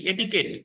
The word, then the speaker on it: এটিকেট: professional conduct and এটিকেট এটি কুয়েট না এটা কি এটিকেট এটিকেট উচ্চারণ করবেন এটিকেট ক্যানস অফ প্রফেশনাল